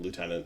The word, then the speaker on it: lieutenant: British ways I'm like I can't put an F in Lieutenant no if I read it it's not there can't work so then